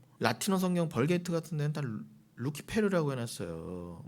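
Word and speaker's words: Lucifer: 버전은 벌게이트 a 그 루키페르 그대로 가져 루시퍼 루시퍼 해 놨다고 루시퍼는 루키페르 영어식 발음입니다 거기까지도 좋아요 근데이 루시퍼를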